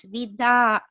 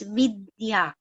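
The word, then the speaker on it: vidyā: read it wrong so i read it as vida so but you said it's vidya yes it is in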